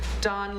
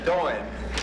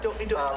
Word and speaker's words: Doan: All right, moving on to Don. Sorry if I pronounced that right, I can't. Nobody knows how to say my Well, name. and I'm sure. It's Doan. Oh, okay. It rhymes with coin. Doan.